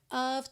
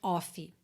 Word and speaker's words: of: eu pinto de verdinho para você não dizer off tá então nem o o tem som de o nem o f tem som de f a gente tem aí uma combinação de of tá essa vogal fica a a e o f vai ter som de v of tá então through all